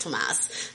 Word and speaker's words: Thomas: thomas and then which we keep calling him thomas but his his name is actually pronounced tomas um but um we're